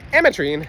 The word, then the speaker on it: ametrine: ametrine there we go I said it right ametrine something about ametrine literally takes their energy it